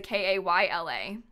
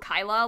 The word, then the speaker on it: Kayla: name mispronounced ever like how are you gonna mispronounce kayla sam's well i get called kyla a lot but that's not that bad like dan's last name